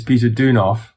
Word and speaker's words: Peter Deunov: to pronounce his name because i'm afraid i'll mispronounce it well there are he has he has his family name which is peter deunov and then his spiritual identity um is being